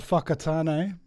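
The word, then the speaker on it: Whakatāne: got a we've got a town called Fakatan. Uh I like that. Yeah. and uh Fangui. And they're all spelled with W's and H's for some reason instead of an F.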